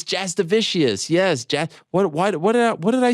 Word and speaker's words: Jasudavicius: Jasudavicius. Yeah, it's a tough one. Jasudavicius. People think it's like vicious because I've been running with it because anyone that just makes an effort, good enough.